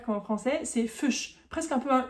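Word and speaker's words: Fisch: Fuch. Attention, c'est pas fish euh avec un i très ouvert comme en français. C'est fuch presque un peu un u.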